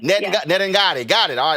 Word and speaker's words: Nedungadi: Nedungadi, did I pronounce it right? Hold on. Nedungadi. Nedungadi.